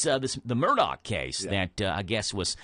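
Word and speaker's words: Murdaugh: Is it pronounced Murdoch, same as Rupert, but spelled different? Yeah, they've been pronouncing it Murdoch on the news, so that's how I've been saying it, Murdoch.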